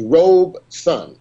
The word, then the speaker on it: Robeson: And by the way, Brother Munir, a lot of people call Paul Robeson, but actually the proper pronunciation is Robeson.